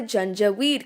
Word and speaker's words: Janjaweed: so many people so this is where the gen jaweed come in and yes i'm pronouncing it right the junta we'd were basically